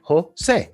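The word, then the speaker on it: José: In Spanish, you pronounce the J like this, and this is 2 syllables. Jose.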